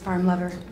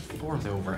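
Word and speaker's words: forlover: i think he needs his farm lover it's pronounced fourth over i don't have time to teach you danish i gotta go help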